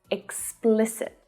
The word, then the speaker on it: explicit: There's a really tricky consonant cluster in there. Explicit. Explicit. So the stress there is on the second syllable, but all of the vowel sounds are short.